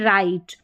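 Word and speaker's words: right: जी H silent रहेगा, ठीक है, यहाँ पर जी एच का उच्चारण नहीं होगा। जैसे यहाँ पर देखें जी एच के बाद में टी है, ठीक है, जी एच है और जी एच के बाद में टी भी नज़र आ रहा है, तो यहाँ पर जी एच का उच्चारण नहीं होगा। लाइट, नाइट, हाई और यहाँ पर है राइट, इस तरीके से पढ़ना है।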